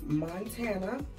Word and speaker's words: Montanna: So, my name is Montana, like the state, but it is not spelled like the state.